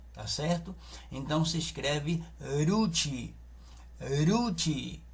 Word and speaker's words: Ruth: Mas em hebraico não é com a pronúncia de R, é a pronúncia da letra Resh, porque Ruth em hebraico